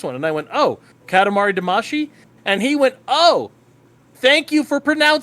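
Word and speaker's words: Katamari Damacy: heard about this one and I went oh Katamari damashi and he went oh oh thank you for pronouncing it correctly oh yeah Power nerd y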